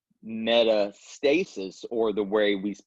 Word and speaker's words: metastasis: So Meta means spread so if we say metastasis or the way we pronounce it is metastasis that means spreading of something into the balance